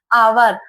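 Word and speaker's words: hour: H silent है। हावर लिखा जाता है पर इसका उच्चारण होता है आवर।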